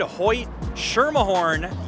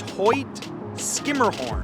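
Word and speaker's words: Hoyt–Schermerhorn: If you said Hoyt Schermerhorn, you would be incorrect. The proper pronunciation is Hoyt Skimmerhorn, and I have even messed that up on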